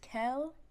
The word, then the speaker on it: Kells: So, if you can't pronounce my name is pronounced Kells.